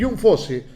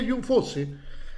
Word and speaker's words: Jon Fosse: el anterior, que es Jun Fose. Se pronuncia Jun. Voy a buscar ahora más o menos las pronunciaciones porque era raro que se pronunciera John este en oruego, ¿no?